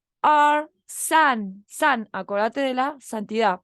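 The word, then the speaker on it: 三: El 3, san, se escribe así, son 3 palitos, ¿sí?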